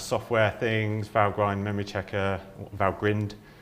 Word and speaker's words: Valgrind: things, Valgrind memory checker, Valgrind, I think it is normally pronounced, coverage checking, etc.